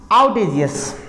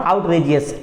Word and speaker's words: आउटेजियस: आउटेजियस, आउटेजियस, नॉट आउटरेजियस, आउटेजियस, आर को हम read नहीं करेंगे, आउटेजियस।